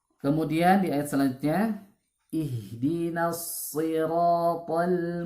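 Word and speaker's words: صراط: Ihdinas huruf shad, ya. Bedakan dengan huruf sin, bukan ihdinas siratal, bukan ihdinas siratal, tapi ihdinas ya, huruf shad. Ihdinas siratal mustaqim.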